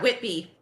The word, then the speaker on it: Whitby: Abby I've been there did I say it right yeah Whitby I've been there there's